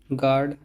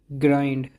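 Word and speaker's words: grind: करने की आवाज़] देना गार्ड रक्षा करना पहरा देना ग्लो चमकना ग्राइंड ग्राइंड नहीं काफी लोग उसे ग्रैंड पढ़ते हैं लेकिन यह ग्राइंड है पीसना गसिप गसिप गसिप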